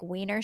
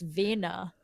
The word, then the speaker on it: Wiener: like weer train like Weiner Schnitzel like and I'm I'm not pronouncing it right at all because it's Vena like that but it sounds funnier when you say it in an American accent and I kept saying